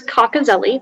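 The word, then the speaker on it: cocozelle: information please sure so the word is cockazelli that's the only pronunciation it's a noun it's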